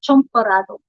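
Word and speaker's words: champurrado: Philippines says it champarado with an A, and then Spanish Latin people they call it chomparado. So it's almost kind of like saying you're a chump, but sometimes they spell it as CHAMP.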